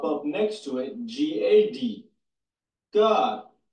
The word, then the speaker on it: Gad: God, the same way it's pronounced in Enoch with that little vowel point above the A.